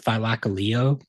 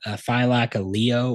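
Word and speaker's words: Thylacoleo: a thylacine, but a it's like pronounced like thylaceo or thylacaleo.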